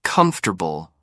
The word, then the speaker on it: comfortable: Parker, kindly pointed out that my version of comfortable sounded more like comfortable, and I was convinced salmon had an L that needed to be pronounced.